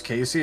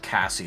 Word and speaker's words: Casey: is my my my birth name is Casey and people have said Cassie to me I can literally c